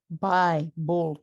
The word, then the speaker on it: bi-bull: It's bi-bull, two bulls, two syllables.